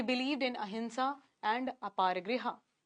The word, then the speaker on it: अहिंसा: कारण जो non violence का कांसेप्ट है, देखो अच्छा अहिंसा प्रोनाउंसिएशन है। नेज़ल साउंड आता है। लेकिन लिखते एम से हैं।